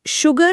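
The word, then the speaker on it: sugar: लेकिन शुगर और श्योर इन दोनों ही शब्दों में एस के ठीक बाद कोई एच है ही नहीं। फिर भी इन्हें शुगर या श्योर नहीं पढ़ा जाता। बल्कि भारी आवाज के साथ शुगर और श्योर उच्चारण किया जाता है।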